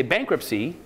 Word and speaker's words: bankruptcy: so the fact that the fact that we don't hear the T when we say bankruptcy the way the English